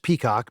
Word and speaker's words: PCOC: The tipping point came one Tuesday when the public company oversight council PCOC, pronounced peacock because regulators enjoy irony, scheduled a peer review of Drake, Drake, and Scalles.